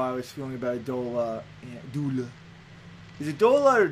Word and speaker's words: doula: And in a very similar way, that's how I was feeling about a doula. Doula. Is it doula or doula? Yeah. Or it's pronounced doula, I believe, as in like to duel.